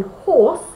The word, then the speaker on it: horse: And that's because the H in horse is a strong H. Ha, horse. We hear the H, so it's a consonant.